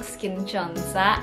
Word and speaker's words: SKIN1004: 10 itu bacanya Chon, 04-nya itu bacanya Sa. Jadi kalau digabung Skin Chonsa itu katanya Skin Angel.